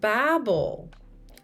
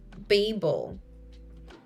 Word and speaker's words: Babel: And that is why the code running the browser must be transpiled with something like Babel, or as I like to pronounce it, Babel.